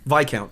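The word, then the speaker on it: Viscount: your favorite I'm going is it pronounced VI count VI count yeah I'm going with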